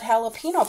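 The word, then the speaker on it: jalapeño: make words like jalapeno they call it jalapeno but they spell it with a J oh this is gift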